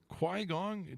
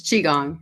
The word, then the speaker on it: Qigong: She has an eclectic background in project management, leadership development, improv comedy, and storytelling, along with, what is this, Qui-Gong? Do I pronounce that right? It's Qigong.